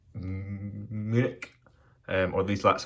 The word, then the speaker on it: Munich: So, to get things off, as you can see by this name here, I was in, some people pronounce it München, typically it's pronounced Munich, or at least that's how I pronounce it.